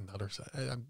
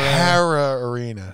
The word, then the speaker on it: Hara Arena: say I want to say it was the nutter I know I'm saying it wrong but I think it just got shut down or it just got hit by tornado Hara AR Hara Hara Arena yeah har thank you Devin that came from